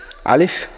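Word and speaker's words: ألف: আলিফ বলার সময় মুখের ভিতর থেকে যেন বাতাস বের হয় এবং দুই ঠোট কিন্তু একত্র হবে না।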